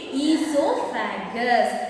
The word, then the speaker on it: esophagus: next one is esophagus here o is silent you have to read read esophagus esophagus means can you